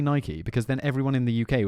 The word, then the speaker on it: Nike: Nike, but it is Nike, you know, because it was named after the temple of Nike. I do know that. And So we get it wrong, and- but I can't say Nike because then everyone in